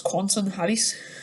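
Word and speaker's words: Quentin Halys: quansen had he says i've listened to a pronunciation of it it's um because it's french that's quantum hatties so yeah i think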